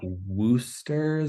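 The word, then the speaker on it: Worcester: of that place but it's apparently it's like wooers how they pronounce it I'm still trying to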